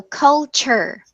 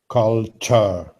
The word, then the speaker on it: culture: word is that you don't actually pronounce the T this ture combination in English is pronounced sure with a cha cha cha cha so culture culture mm-hmm counter mm-hmm yes so and again the accent is on the first syllable so I'm going to